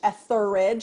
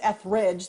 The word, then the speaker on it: Etheridge: still butcher it because everybody's aware of Melissa Etheridge Etheridge and mine's eth Ridge there's a consonant missing in the middle sir I mean a